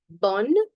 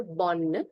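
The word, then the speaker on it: bonne: day I'll greet them bond. Please remember here there is double n and e which is why I'm saying proper bon and not bon.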